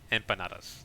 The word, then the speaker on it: empanadas: call empanadas empanadas I think is that's proper pronunciation in Spanish empanadas.